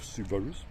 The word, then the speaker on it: Subarus: gentleman has owned a series of subarus that's how you say it and he really really